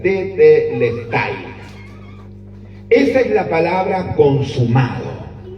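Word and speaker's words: τετέλεσται: La palabra consumado en su original en griego es como está escrita ahí, que me cuesta pronunciarla, es tetelestai.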